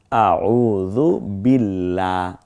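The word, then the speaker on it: أعوذ بالله: হয় এখন থেকে দেখুন পূর্বের অক্ষর জের হলে কেমন হবে তখন পাতলা করে পড়তে হয় এটাই শুদ্ধতা যেমন আউজুবিল্লাহ এখন যদি শুদ্ধ করেন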